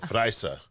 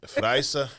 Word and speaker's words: Efraysa: Did I say it right? Efraysa. Efraysa. Damn it. Efraysa Ramos. Yes. See, I roll the R a little bit.